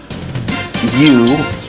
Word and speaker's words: Yu: Quote, You, pronounced Y-U, Mirosawa is an ordinary 10-year-old girl until she sees a spaceship floating in the sky.